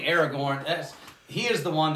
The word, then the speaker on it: Aragorn: the king figure in aragon aragorn air oh goodness gracious i said it wrong aragon that's the dragon that goes rawr in the book you know that's a different thing aragorn that's he is the